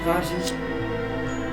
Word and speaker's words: Pageant: I accidentally want to say Pagan, because it sounds like his name it looks spelled like that way. I'm gonna say Pageant. We need to get there now, Pageant.